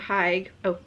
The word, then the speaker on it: hygge: says originating from Denmark the notion of hike pronounced hygge celebrates all things warm